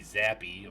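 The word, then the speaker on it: Zappe: pick one back baby bailey zappy or zaper i'm not sure how you say it courtney just bailing zap bailey's zap that's what it is out of western kentucky uh barely six foot tall 215.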